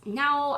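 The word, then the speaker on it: Nao: singer her name is now I'm guessing it's pronounced now it's spelled n a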